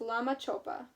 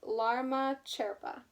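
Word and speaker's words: Lama Chöpa: December 29th yesterday was Lama choppa you say I said it wrong you say lama sherpa this is a special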